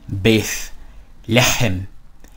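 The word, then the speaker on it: בית לחם: Okay, so this is the same thing as me saying, just remember, bith lechem, bith lechem, bith lechem.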